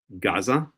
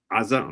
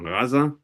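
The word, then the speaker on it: עזה: Ashkalon Ashto Gaza or pronounced correctly aza raza. We'll even hear the Arabs pronounced as raza starts with an iron.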